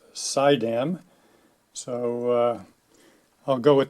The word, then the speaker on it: Suydam: these houses one of my modeling friends suggested that you pronounce the manufacturer as sideam so uh I'll go